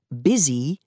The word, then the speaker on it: busy: is the spelling from one dialect but the pronunciation busy is from another from the 13th century English